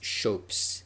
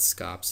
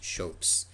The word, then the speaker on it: scop: poets were known as shopes that's how that word is pronounced um it's not scops it's shopes um so that's these